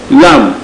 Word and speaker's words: lamb: it as early MB early and B you pronounce this as lamb Islam the fee after it is silent it